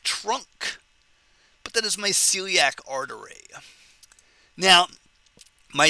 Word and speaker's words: celiac: but that is my Celiac artery now my Celiac Celiac three syllables three branches the branches